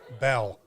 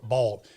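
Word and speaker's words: Baal: talk about it a bell or ball b-a-a-l some people pronounce it Bell some people pronounce it ball the what uh uh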